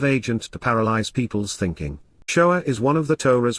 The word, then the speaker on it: shoah: when one considers that the word is shinwa aleph, with the vowel wa producing the O sound and the vowel aleph conveying the same sound as an A in English. Therefore, it was originally pronounced shoah.